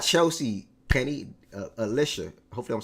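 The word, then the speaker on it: Allisha: Well, Kelsey ain't gonna bring you, not Chelsea, Penny, Alicia.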